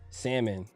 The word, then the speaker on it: salmon: salmon salmon come on down I got you see